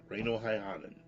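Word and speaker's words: Reino Häyhänen: Reino Heihanen.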